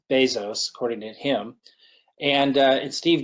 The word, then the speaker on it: Bezos: Some of the famous ones are Jeff Bezos, is how he pronounces his name. Some people say Bezos, but it's Bezos, according to him.